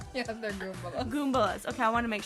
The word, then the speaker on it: Goombas: Goombalas? Yeah, they're Goombas. Goombas. Okay, I want to make sure I was getting the pronunciation right there.